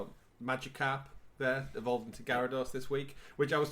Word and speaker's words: Gyarados: Trying to show off how cool my Gyarados is. The first thing she does is looks at it and goes, "Isn't it pronounced Gyarados?"